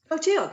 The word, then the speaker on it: Clotilde: Clotilde, yes, it's Clotilde, pretty simple.